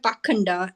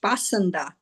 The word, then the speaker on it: Pakhanda: The word Pakhanda used in this verse is sometimes pronounced Pasanda.